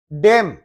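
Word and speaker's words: damn: डेम N silent है।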